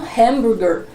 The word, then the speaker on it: hamburger: comer e comprar um hambúrguer. Nos Estados Unidos, nos países falantes de língua inglesa, é um hamburger, né? Variando também sempre o sotaque, mas dentro generalizando aí, a sua pronúncia comum fica hamburger.